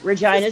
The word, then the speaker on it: Regina: Yes, that's the name, Regina, Saskatchewan. The city that rhymes with And- fun.